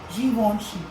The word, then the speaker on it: Givenchy: Okay, kung French tayo, we would say Givenchy.